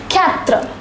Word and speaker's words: quatre: The number 4 is pronounced as quatre.